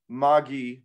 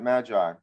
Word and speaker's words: Magi: By the way, it's also pronounced Magi, not Magi.